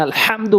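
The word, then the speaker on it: الحمد: করতে হা উচ্চারণ করি সূরা ফাতার ওখানে আলহামদু বলি কেন ওখানে বড় হা ওখানে আলহামদু বলতে হবে হা জবর হা রহিম রহমানির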